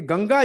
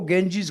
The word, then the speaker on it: गंगा: के लिए हमने उसको अडॉप्ट कर लिया ये गंगा जी है उसको गेंजीस कर दिया जैसे राेंद्र नाथ को क्या कहते